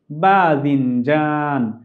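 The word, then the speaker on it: باذنجان: এটিকে বেগুনের কাছাকাছি উচ্চারিত শব্দ, সেভাবে আমরা মনে রাখলে আমাদের জন্য মনে রাখা সহজ হবে। বেগুন বাংলায় বলছি, আরবিতে বলছি বাদিনজান, বাদিনজান।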